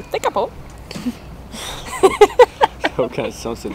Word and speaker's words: Tekapo: Officiellement prononcé Tekapo.